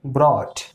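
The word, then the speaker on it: brought: यदि किसी वर्ड के अंत में आपको ध्यान देना है कि अगर GH हो या GHT हो, क्या देखना है, तो GH या GHT। तो जो GH होगा वो क्या हो जाएगा, साइलेंट। यानी कि जो GH है वो चुप हो जाएगा, वो शांत हो जाएगा। जिससे आप यहाँ पे एग्जाम्पल देख रहे हैं, लिखा है ब्रॉट।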